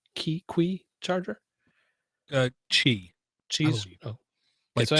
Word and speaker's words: Qi: had a what's the pronunciation key qui charger chi Chi's oh my so I had a G charger on a regular which is Qi right yeah on a regular battery in a